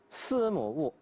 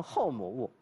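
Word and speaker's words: 司母戊: 或者读成后母戊都能读得通。如果说司母戊，司就读成祭祀的祀，这个商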